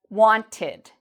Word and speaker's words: wanted: So if you look here, we have want is the verb. It ends in a t sound. So when we change want to the past, we add ed and we pronounce this as wanted.